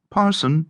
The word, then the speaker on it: Person: As the person, Hugh Person, corrupted Peterson and pronounced Parson by some, extricated his angular bulk